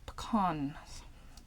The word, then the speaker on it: pecan: It almost killed me in my 20s after having a yogurt that contained pecan nuts, or pecan as the Americans pronounce it.